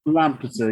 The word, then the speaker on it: Lampeter: Is it pronounced Lampeter? Lampeter, yeah, that's the English word for it, yeah.